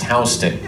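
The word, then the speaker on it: Houston: So at Pier 40 you are at Hston Street which is spelled just like the big city in Texas but in New York definitely pronounced Hston.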